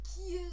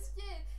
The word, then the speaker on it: Ciel: Deswegen wird Ciel auch nicht Kiel, sondern Ciel!